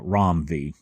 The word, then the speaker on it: Ram V: were telling me that they believe he pronounces his name ROM uh ROM V so anyway I'm enjoying